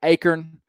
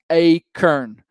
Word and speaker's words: acorn: help you guys learn to pronounce the word acorn. It is pronounced acorn, not acorn.